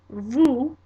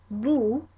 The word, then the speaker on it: vous: Second person plural or formal, vous, vous.